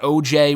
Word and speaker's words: Oj: they named their son Oj after Owen Hart. So that's where it comes from. It's not OJ with an E or like OG or whatever. It's Oj. That's how you pronounce it.